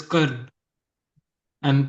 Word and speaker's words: Karna: So, a particular person which name is Karn and pronounced as Karna.